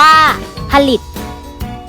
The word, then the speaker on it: ผลิต: หีบ อยู่ ด้วย เช่น ผลิต อ่าน ว่า ผลิต ปรั่ง อ่าน ว่า ฝรั่ง